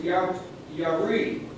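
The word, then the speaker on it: ירא: Transliteration, yari, is how you say it in the Hebrew.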